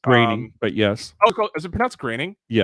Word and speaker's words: Groening: Yeah, Matt Groening's Groening, but yes. Oh, is it pronounced Groening?